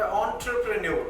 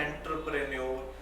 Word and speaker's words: entrepreneur: ਜਿੱਦਾਂ ਦੂਸਰੀ ਐਗਜ਼ਾਮਪਲ, ਕਿਉਂਕਿ ਇਹ ਚੀਜ਼ਾਂ ਹੋਈਆਂ, there is another word called entrepreneur, the right pronunciation is this, entrepreneur। ਬੱਚੇ ਹੁਣ ਉਹਨਾਂ ਨੇ ਲਿਸਨ ਰੀਡਿੰਗ 'ਚ ਸੁਣਿਆ ਵਰਡ, ਉਹ ਕੀ ਬੋਲਦੇ ਨੇ ਐਂਟਰਪ੍ਰੇਨਿਓਰ, ਉਹ ਫਿਰ ਉਸ ਚੀਜ਼ਾਂ